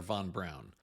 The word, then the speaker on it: von Braun: Is it von Braun or von Braun? According to his daughter, the correct pronunciation is von Braun.